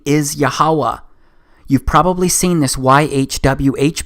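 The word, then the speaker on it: יהוה: But this YHWH, it's pronounced as YAHAWAH, because it turns out that the language was so simple back then that it vocalized each consonant with an ah sound without specifically marking that sound between consonants. So this YHWH, it's pronounced YAHAWAH.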